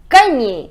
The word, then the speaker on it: gagner: Et finalement, gagner.